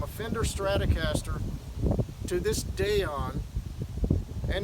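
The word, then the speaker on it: Daion: So this Dayon guitar, I'm going to spell that again if you cannot see it. It's D-A-I-O-N, Dayon.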